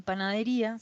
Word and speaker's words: panadería: En panadería se tilda la I para poder separar las sílabas, tal y como se pronuncia.